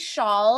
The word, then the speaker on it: Chaal: my name is shawl it's pronounced like like like a shawl that you wear that's what I yeah it's got that like hard CH but it's actually how